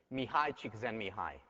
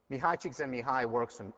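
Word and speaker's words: Mihaly Csikszentmihalyi: So, extra point on the final for the person who can pronounce this. Mihai Csikszentmihalyi. Mihai Csikszentmihalyi work on flow.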